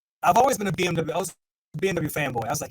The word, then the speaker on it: BMW: all of you and say it is actually pronounced BMW. You say BMW in Germany, and they're going to look at you like you're nuts. It is a BMW.